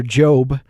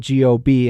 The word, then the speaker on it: Gob: Will Arnett as his brother Job, which it's spelled G-O-B, and he's sometimes called Gob, and it's hilarious.